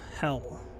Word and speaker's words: Hel: Hell. Nice. H-E-L. It's actually the the Viking pronunciation of hell.